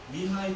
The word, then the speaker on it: Mihaly: Mihai Csikszentmihalyi, and that's by the way how you